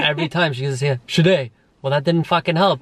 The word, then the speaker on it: Sade: You could have just said, like, how exactly do you pronounce her? Yeah, and then every time she goes, yeah, Sade.